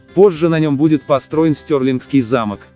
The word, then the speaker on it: Stirling: город стёрли Именно так он произносится на английском языке стёрли один из старейших